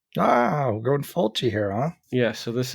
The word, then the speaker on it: Fulci: So And the last name of the director rhymes with Mulchi. Ah, we're going Fulci here, huh? Yeah, so this is a Fulci, The House by the Cemetery.